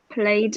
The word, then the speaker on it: plaid: planned yeah plaid shirt I know the the spelling is P L a ID but we pronounce it plaid plaid plaid yeah so